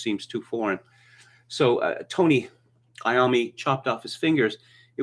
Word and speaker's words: Iommi: If it were pronounced in the Italian manner, it would be Iommi. But sorry, Tony Iommi, that would sound ridiculous, right?